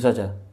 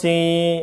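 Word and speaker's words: سين: Th gitu saja. Th ha tirukan th ha. Lalu sini thos si. Ingat bacanya bukan sa tapi si berdasarkan huruf hijaiyah yang awal atau ejaan huruf hijaiyah yang aslinya.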